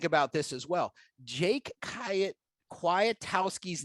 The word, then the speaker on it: Kwiatkowski: this as well jake kya kuatowski's name has a silent k that's right that second k is silent which led me to